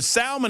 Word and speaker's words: salmon: that have I mean, the salmon is a perfectly acceptable way to pronounce the pronounce the words. There's an L in it. I don't I don't believe in these um I don't believe in these silent letters not pulling their weight.